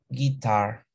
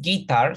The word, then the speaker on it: guitar: Guitarra, guitar. Se escribe así, pero se va a pronunciar. Bueno, se pronuncia igual, solo que la mayor fuerza de voz está en la segunda sílaba. No es guitar, sino guitar.